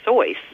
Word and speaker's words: Seuss: Seuss you know as in you know cat mahat etc he actually it was supposed to be pronounced dr. sois because it was his mother's maiden name and that's how you would pronounce it in German but everyone called it